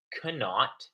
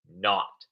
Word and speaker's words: knot: It's not cannot, it's pronounced not. The K is silent.